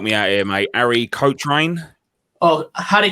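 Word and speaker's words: Cochrane: so gorgeous help me out here mate arie coach reign oh harry cochran there we go that's the one he broke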